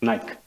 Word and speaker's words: Naik: Singh's partner, Miss Selina Naik. Is that pronounced correctly? We'll accept it for now. It's Nike.